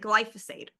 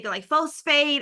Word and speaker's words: glyphosate: That growth happens when you start saying the word that you can't pronounce like glyphosate. I used to say glyphosphate.